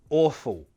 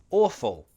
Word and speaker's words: awful: Me being from London I tend to pronounce the "L" like an "L" like a W sound. So it sounds like awful, awful!